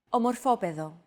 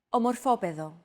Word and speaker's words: Ομορφόπεδο: However, the accent mark had to be moved over to a different syllable in order to comply with our accentuation golden rule.